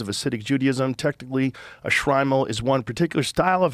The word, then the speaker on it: Shtreimel: Shtreimel? Shtreimel. Yeah. The Shtreimel was adopted by Eastern European Jewish communities in the 18th century and coincided with the rise of Hasidic Judaism. Technically, a Shtreimel is one particular style of hat.